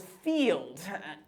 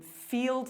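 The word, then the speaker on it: Feeld: I um Okay, so I'll explain Field. Field is the sex positive dating app. So um so it's spelled um Field like like feel with a D.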